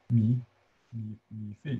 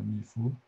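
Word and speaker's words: 米芾: younger Li, not Li, Mi Fei or Mi Fu, different pronunciation, both right, I think.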